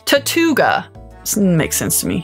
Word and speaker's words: Tirtouga: Pokemon guys fun fact I've been pronouncing Tortola wrong the last time I thought it was tattoo ogre but you read it's tattoo gir Tortuga I think fun